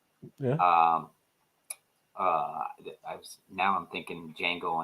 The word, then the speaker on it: Django: uh now I'm thinking Django Unchained where the D is silent I'm thinking we all